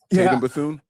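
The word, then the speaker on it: Tatum Bethune: I'm still more confident with uh uh I never say his name right, so I don't want to mispronounce it. Tatum Bthoon.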